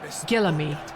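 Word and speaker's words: Guillaume: The old Gillam.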